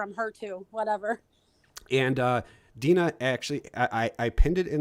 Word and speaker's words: Deana: Yeah, but so people know it's pronounced Deana. It's Deana. My mom just wanted to make it difficult Yeah, by throwing an extra A in there. Yeah, it's not Deana. So it's Deana, like Dean, Dean.